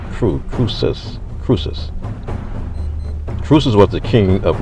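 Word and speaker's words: Croesus: e s u s but it it is pronounced true process cruces truces was the king of lydia and the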